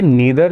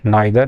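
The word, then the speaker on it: neither: उन्होंने पूछा था कि सर ये नीदर जो वर्ड है, नाइदर, नीदर जो भी बोलते हैं इसको, कई बार बच्चे कंफ्यूज आते हैं कि नीदर बोलें कि नाइदर, तो ये दोनों प्रोनाउंसिएशन करेक्ट है।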